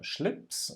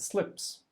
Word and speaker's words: Schlips: The other thing was that he mispronounced the word for tie, which is Schlips in German, and he said slips.